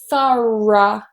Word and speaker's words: thorough: The next one we have is a r sound. We looked at that in the first word as well. So we have thir, thir. And then, of course, we need to release that r into a vowel sound. Here it's weak and we have the schwa. So it's very relaxed. Thorough, thorough, thorough.